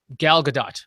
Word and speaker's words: Gal Gadot: Let's talk a bit about Gal Gadot, because that's how you pronounce it.